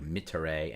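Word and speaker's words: mittere: third is the ure, that's a short e on both of those, ure like mitere and yakare, not ere but mitere.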